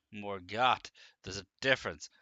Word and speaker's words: Morgott: Not Morgit, Morgott.